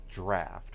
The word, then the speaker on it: draught: The way that's spelled, it should be draught, but it's pronounced draft, which I don't really get, because we have the word draft already.